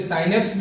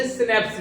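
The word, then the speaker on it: synapse: देखो उसके अलग अलग प्रोनाउंसिएशन हो सकते हैं, कुछ लोग इसे साइनेप्स भी बोलते हैं, कुछ लोग इसे सिनेप्स भी बोलते हैं।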